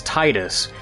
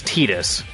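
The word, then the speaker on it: Tidus: kind of like how people keep pronouncing tetus as Titus because it makes sense narratively because it's you know tide it sounds like water and Titus is usually how you say it but canonically it's tetus even though Titus sounds better that's not how you're supposed to pronounce it I mean that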